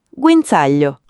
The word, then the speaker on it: guinzaglio: Guinzaglio con la Z sorda. Guinzaglio.